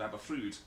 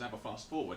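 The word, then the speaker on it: Aberffrwd: the veil of rydal really called abba food and a lot of people say it as ever fast forward because that's how it's spelled ever fast forward yeah because it's because it's abba ffwd oh my god all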